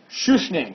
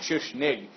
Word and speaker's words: Schuschnigg: Chancellor named Kurt von Schuschnigg SCH us got to make sure yes CH n I G G this like GG sound at the end of his name in German according to Freud Soler